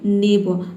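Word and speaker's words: neighbour: है तो वहाँ पे आर लेटर साइलेंट हो जाता है। ठीक है, इंग्लिश में हम आर को प्रोनाउंस नहीं करते हैं। कब? जब आर से पहले कोई वावल आ जाएगा। देखिए यहाँ पे आर से पहले यू वावल आया है। ठीक है, यू और ओ, दो वावल आ गया है। ठीक है, तो यहाँ पे आर लेटर क्या होगा? साइलेंट रहेगा। हम केवल पढ़ेंगे नेब।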